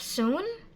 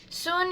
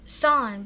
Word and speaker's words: soon: So for the next we have soon. Soon is a long vowel. We have a double O in the middle, O-O, S-O-O-N. So we pronounce oo and colon. Oo, not son, but soon.